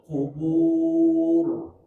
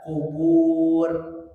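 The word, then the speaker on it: القبور: wa husila maa fisudur Dur qubur tidak kubur tidak sudur tapiburur baru ayat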